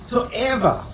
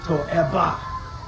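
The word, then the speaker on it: תועבה: So, the word that's translated as adorance or abomination in English in Hebrew actually is a word called toa or depending on your pronunciation toba.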